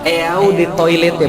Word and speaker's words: eau de toilette: Eau de Toilette, pernah lihat? Nanti kalau besok-besok main ke mall, lihat-lihat aja kan, nggak bayar ya. Sama banget sih Ustaz. Eau de Toilette artinya adalah eau de toilet bacanya.